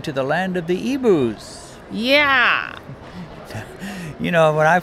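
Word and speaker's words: Igbo: IG Bo right so that to me sounds like big Bo but they pronounce it EBU yeah EBU well here's the interesting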